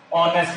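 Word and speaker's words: honest: कैसे यहां पर वो बता रहे कि एच साइलेंट है, ऑनेस्ट है इसका, ऑनेस्ट नहीं है तो एच साइलेंट है, इसलिए एन लगा, सही बात है साइलेंट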